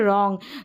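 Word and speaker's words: wrong: अब है यहां पर डब्लू आर डब्लू आर है ना र पढ़ेंगे क्यों क्योंकि आर का उच्चारण तो र है लेकिन आर से पहले डब्लू है ना ये साइलेंट है यहां पर भी जैसे रंग हो गया ठीक है रंग तो यहां पर डब्लू को हम प्रोनाउंस करें नहीं बिल्कुल भी नहीं तो यहां पर डब्लू साइलेंट है डब्लू आर जब भी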